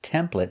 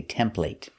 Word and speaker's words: template: next word is template now this word is pronounced template in America but in England they say template but we're teaching American English so we pronounce